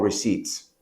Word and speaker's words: receipt: Esto genera mucha confusión y escucho muchos alumnos hablar de medical recipes, medical receipts. Pero les recuerdo que receipt, sin pronunciar la P, significa recibo.